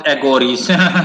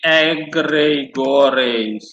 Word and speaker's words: egregores: You s Oh, you pronounce egores. You mean egregores. That's how it's pronounced.